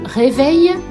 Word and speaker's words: réveil: Dans le mot réveil et dans le mot merveille. Dans le mot merveille, le son eille s'écrit E-I-2-L-E et nous entendons eille, comme dans une abeille.